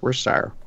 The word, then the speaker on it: Worcestershire: for watching a certain channel though they don't pronounce the CH it's worse tire anyways so but I remember it like it